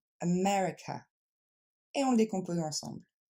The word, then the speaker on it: America: fois police deuxème mot on ne va pas dire amériica mais on va dire America et on le décompose